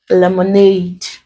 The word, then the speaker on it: lemonade: This word contains three syllables, and we are told that we stress on the last or the ultimate. So we stress this. This becomes lemonade.